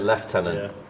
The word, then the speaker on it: lieutenant: same thing for lieutenant Lieutenant is Lieutenant but we pronounce it left tenant and again I think it's the French pronunciation seems kind of petty